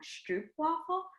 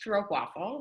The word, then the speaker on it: stroopwafel: the only traditional, correct me if I'm wrong, stroopwafel experience in New York City. So, Yeah. I'd love to hear like about that. Sure. So it's pronounced stroopwafel, like stroop, like Okay.